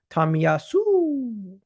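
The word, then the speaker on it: Tomiyasu: um excuse me you pronounced it wrong it's pronounced tamiyasu C is it C or Sue C tamiyasu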